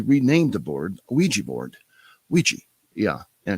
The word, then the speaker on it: Ouija: Well, he actually died in the manufacturing place where they were making these boards, and he renamed the board Ouija board, Ouija, yeah, and it's spelled weird, Ouija, and it's supposed to mean good luck.